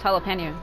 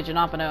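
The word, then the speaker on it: jalapeño: It's jalapeno, but people say Janopano in it.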